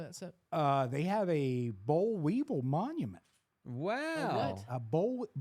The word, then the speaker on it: boll weevil: They have a boll weevil monument. Wow. what? A boll weevil? I don't know if I'm pronouncing that. That animal. You think Yeah. it's actually pronounced bull weevil?